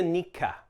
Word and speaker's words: Nikka: On to Nikka, Japan's second largest whiskey distiller. In Japanese, it's Nikka, not Nika or Nika.